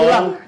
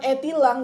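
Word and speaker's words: e-tilang: Bukan etilang, dibacanya itilang.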